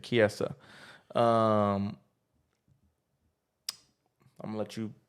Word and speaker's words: Chiesa: Chisa? It's something like that. Chiesa. That's how you say it. Chiesa.